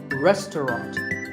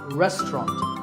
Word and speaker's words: restaurant: fancy spelling confuse you the second syllable is just tough and the third is rot so restaurant in British English you might hear just two syllables restaurant that is also corrected